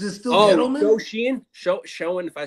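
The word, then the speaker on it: Schoen: Sheen show Shonen, if I say his name right. Oh, Joe Shonne.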